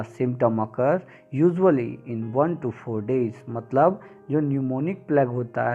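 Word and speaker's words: pneumonic: जो मैंने बोला था न्यूमोनिक प्लेग यहां पर पीस साइलेंट रहता है इसको कहा जाता है न्यूमोनिक प्लेग पढ़ा जाता न्यूमोनिक प्लेग लिखा जाता है पींठ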